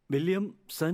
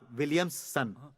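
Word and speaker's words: Williamson: विलियम सन? नॉट विलियम्स सन, विलियमसन। आई am lingam.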